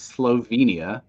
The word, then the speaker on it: Slovenia: if you're gonna make fun then at least pronounce the name of the country correctly it is Slovenia not yep um because it's a Hidden Gem